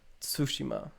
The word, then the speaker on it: Tsushima: Well, because it's Tsu. like a Japanese. They pronounce the T. They go Tsushima. Don't they? In anime they're always going Tsu.